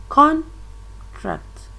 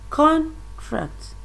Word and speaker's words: contract: the same spelling but when the word as a stress is placed on the first syllable it is a noun and when it is placed on the second syllable it will change to a verb for example can contract